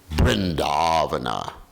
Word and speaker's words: Vrindavana: So, but then I understood that in Bengal they pronounce V or the V as B, just like Prabhupada would say, Vrindavana. You understand? Vrindavana. Instead of Vrindavan, he said Vrindavana.